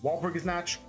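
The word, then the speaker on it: Walpurgisnacht: Every now and then, here in Limbus Company, there is an event called a Walpurgis Night, or Walpurgis Natch, however you want to pronounce it.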